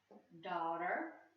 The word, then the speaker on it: daughter: So this is pause, thaw, squawk, because, crawl, sauce, because that's CE, the C says S, dawn, daughter, author. That GH is silent in that word.